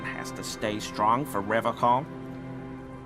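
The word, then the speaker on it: Revachol: But someone has to stay strong for Revcom. He pronounces Revaccom with a hard K, unlike other people.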